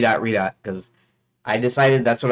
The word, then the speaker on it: Redot: gdo and I pronounce I still pronounce rot r dot because I decided that's